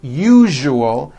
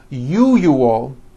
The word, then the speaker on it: usual: are very very common if you are someone that pronounces the word usual as ual I'm telling you you are not being understood let me show you how to pronounce the word usual correctly break it up into three syllables u o that second syllable the one with the underline needs to be voiced put your hand on